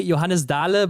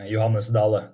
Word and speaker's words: Johannes Dale: to pronounce your name in Germany we would say Johannes dala but I think that's not how you do it in Norway right yeah was not so far off actually if I should pronounce it in norian it would be yanas Dal Dal so I guess it's quite similar actually yeah yeah Germany is